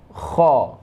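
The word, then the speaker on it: خ: Nah, untuk selanjutnya yaitu huruf kha.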